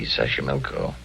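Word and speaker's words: Xochimilco: pbla sash sash Sashi milco okay so you pronounce it better than I do it's easy Sashi milco that's where the streets are paved with flowers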